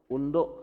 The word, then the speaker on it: undo: Nah, ini adalah menu undo kalau kita bahasa dulu saya gitu ya, itu undo atau kalau bahasa Inggris dibacanya ando katanya.